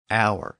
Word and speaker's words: hour: The letter H became a silent letter, and it's still silent in modern French. And a lot of those words passed into English. That's why words like honor, honest, hour, H-O-U-R, and air, H-E-I-R,